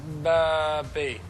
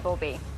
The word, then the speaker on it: Bauby: Jean-Dominique Barbie. Yeah, although you made that sound like it was 2 words, last word. Jean-Dominique Bauby.